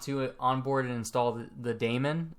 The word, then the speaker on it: daemon: Now we want to onboard and install the daemon. I think that's how you pronounce it. It's not demon, because that's spelled differently, but the daemon, that's basically the process that runs 24/7 in the background.